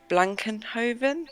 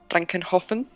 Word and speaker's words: Blankenhofen: So after that, we headed to Blankenhoven. Is that how you pronounce it? Hoffen, but close. Blankenhofen.